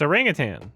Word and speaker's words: orangutan: It's orangutan. There's no G. Everybody pronounces it with a G at the end, but no, there is no G.